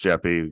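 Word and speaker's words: JEPI: Jeff e which is Jeff I but it's pronounced Jeffy good for you know colloquial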